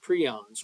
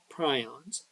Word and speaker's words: prions: Here, this week we're studying eukaryotic microorganisms or pathogens and viruses and prions or prions, whichever pronunciation you prefer.